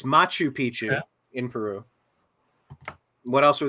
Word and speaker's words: Machu Picchu: Mexican pyramids um what's I forget inor watt maku Pichu am I pronouncing all this stuff right there's there remnants of it's angor It's angor watt it's Machu Picchu in Peru what else were the other ones